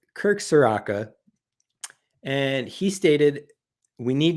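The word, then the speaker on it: Kirk Ciarrocca: So it's Kirk Soraka.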